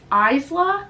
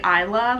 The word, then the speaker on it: Isla: Her name is Isla, but you actually have to pronounce the S, but when I was reading it I was saying Isla like the S was silent.